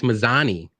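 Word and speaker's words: Mazany: Yeah, I know who you were talking about, but I for some reason I'm like, how do you say her last name? It's Mazzani. There's no G.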